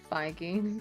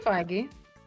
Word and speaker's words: Feige: Feige, by the way. Is that really how it's pronounced?